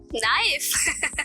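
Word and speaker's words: knife: नाइफ। मैं कैसे मान लूं? क्योंकि वो केस से स्टार्ट होती है लेकिन केस साइलेंट होता है बट कुकिंग में भी यूज़ होती है और बेकरी में भी यूज़ होती है।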